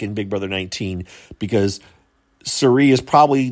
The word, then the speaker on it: Cirie: Cirie.